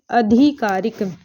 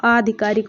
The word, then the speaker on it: आधिकारिक: यह वाला आता है यहां पर अधिकारिक नहीं है इसका जो करेक्ट उच्चारण होता वो आधिकारिक होता है तो आपका ऑप्शन